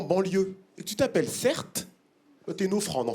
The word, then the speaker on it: Certe: mon nom de famille cert mon prénom c'est CER ça s'écrit c e r T e mon prénom c'est un